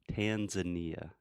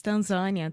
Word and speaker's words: Tanzania: in Kenya and Tanzania Tanzania just almost like Portuguese Tanzania Tanzania it's not even close though how do you say this in English Tanzania Tanzania it's not even close at all remember we're not talking